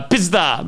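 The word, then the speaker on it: пизда: my wife is Russian it would be uh pisda uh PDA pisda it basically it it's just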